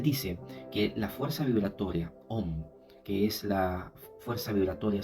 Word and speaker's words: Om: Y esta palabra se conoce en el hinduismo como Om, que se escribe Aum, y es el acróstico de tres palabras, Akara, Ukara y Makara, que significa vibración creativa, vibración preservadora y vibración destructora.